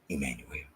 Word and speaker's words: Imanuel: Even if it's E, it's still Imanuel. That doesn't change. Oops. Because you put an E there, that doesn't change the pronunciation of who we supposed to call them.